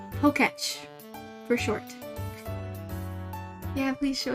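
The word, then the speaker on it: Pokétch: So, I just discovered that Pokemon Watch is pronounced Poketch for short.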